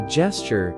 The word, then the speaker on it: gesture: Pronouncing gesture is simple, ʻdʒɛstʃər, with a soft G and a short E.